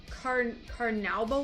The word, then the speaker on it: carnauba: So basically, as far as what I've read online, anything that has, I always forget how to say it, carnauba wax, it's C-A-R-N-A-U-B-A, you can use that.